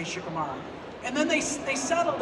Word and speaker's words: Shikamaru: saying it the way we settled on it Shikamaru because I they also like shikaru you know there's there's that thing I called you shikaru and a lot of it they have to